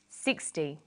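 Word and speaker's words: sixty: Usually the first syllable in a number is stressed. 16, 60. Notice that it's the final N in teen that you have to be careful with.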